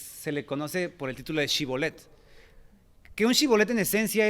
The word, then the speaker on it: shibboleth: con otra región, que no podían pronunciar la palabra shibboleth así, con el CH, sino que ellos decían simplemente Sibolet.